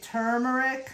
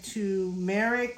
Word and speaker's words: turmeric: spelling some people say turmeric some people say to merrick which with the r out of the place with no r drop the r yeah